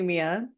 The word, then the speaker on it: Mea: it's that's what's crazy is that it is spelled MEA, so it's literally Mia, but like, if you